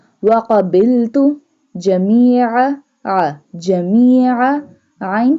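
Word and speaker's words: قبلت: This one qaf will be bold because it has a two dot. Wa qabiltu jami'a.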